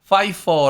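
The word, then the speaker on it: Pfeiffer: 유명하신 배우 분이 계신데 그 분 성이 유 앞쪽에 이제 피를 ph 를 쓰시는 그런 성을 쓰시 저래서 오른 것도 있는데요 그래서 요건은 파이퍼 라고 읽으시면 됩니다 안해서 잘 알아 드시구요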